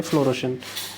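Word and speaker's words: fluorescent: उसको कहा जाता है फ्लोरोसेंट। ओके, साइंस में इसको काफ़ी ज़्यादा इस्तेमाल किया जाता है। फ्लोरोसेंट का जो स्पेलिंग है, पहले फ्लोरो का स्पेलिंग देखो, बोला जाता है फ्लोरोसेंट लेकिन लिखा जाता है फ्लोरेसेंट।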